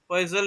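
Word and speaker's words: Poiseuille: पॉइजल equation बोल देना, पॉइजल equation, POISEUI, ठीक है। प्रॉपर उसको पॉजिटिव बोलते हैं, पॉजिटिव इक्वेशन, लेकिन इंडियन प्रोनाउंसिएशन के हिसाब से, जिससे आप इसका स्पेलिंग भी सही लिखें, ठीक है।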